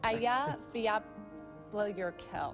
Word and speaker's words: Eyjafjallajökull: erupted in 2010 and nobody could pronounce it. It's Eyjafjallajökull.